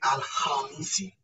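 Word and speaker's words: Alhamisi: So in the letter KH, you'll ignore in the pronunciation, you'll ignore the word K, but pronounce the word H. So the K in pronunciation become more of silent. So we'll say Al-Hamisi, Al-Hamisi, Al-Hamisi.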